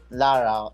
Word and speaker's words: Lara: So are we supposed to pronounce the 1, or we just call you Lara? Lara, it's okay. Lara is okay.